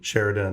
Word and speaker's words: Sheridan: Yeah, I wish I had some of that hotel money, but no, it's Sheridan. Sheridan, yes. The Irish way to spell it.